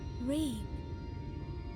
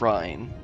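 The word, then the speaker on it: Ryne: Reen. Yes, I rather like the sound of it. I've been saying it wrong this whole time. Thank you. Did she say? She said Reen. I thought Thancred said Rhine.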